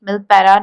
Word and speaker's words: Milperra: is 24 Mani Street milpera New Sydney and he pronounced the word here now here you have observed one thing that when he pronounced that word he pronounced r word as ah so that is a